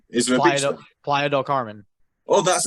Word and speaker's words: Playa del Carmen: Playa del Carmen. Oh, that's how you say it. Playa del Carmen. Yeah. I'm like Playa del Carmen.